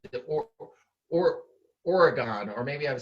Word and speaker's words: Oregon: that's the other thing people out here say oregon and i'm like what are you talking about it's oregon before okay no worries okay